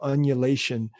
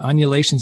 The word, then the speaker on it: undulation: but this idea of annulation did i say it right uh you forgot the d but undulation sounds pretty good too